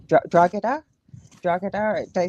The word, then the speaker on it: Drogheda: The G is silent, believe it or not. So it's like a H. It's Drogheda. Drogheda.